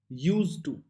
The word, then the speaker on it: used to: यूज टू, ड का आवाज नहीं आता है।